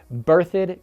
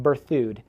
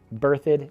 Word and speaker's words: Berthoud: five number six sorry berthed colorado not birth food berthed colorado and coming in